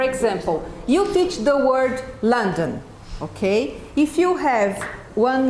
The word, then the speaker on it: London: So you have London, red and green, okay? You show the red, lun, the green, You can make anything, a ball, a toy, and you put the symbol schwa.